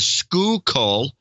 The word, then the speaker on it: Schuylkill: public at large to school coal is not something I would normally pronounced correctly now who would it's